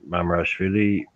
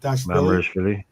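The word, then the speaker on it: Mamardashvili: Your man Mamarashvili, he's had a great tournament.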